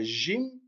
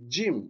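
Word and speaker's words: جيم: suivante le jim et attention c'est pas gym d'accord certains prononce gym non c'est jim c'est pour ça que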